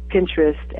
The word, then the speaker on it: Pinterest: you can go into Pinterest and say that again spell that I don't never heard that p i it's interest with a p at the beginning oh I see okay